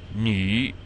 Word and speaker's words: nü: It's just when you're rounding your lips and you attempt to say knee, the correct sound should result, but it shouldn't sound anything like knee.